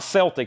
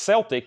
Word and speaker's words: Celtic: It's not Celtic. I think the only way it's pronounced Celtic if literally the Boston Celtics, and then everywhere else it's Celtic.